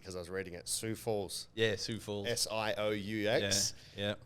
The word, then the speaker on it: Sioux Falls: idaho team we would have you know a sioux falls team and yeah so whoever's team that was